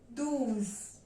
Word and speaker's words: douze: 12 is pronounced in French as douze.